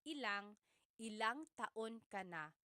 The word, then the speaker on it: ilang: Just a pronunciation tip, when there's ilan ang, it's usually put together and it's ilang.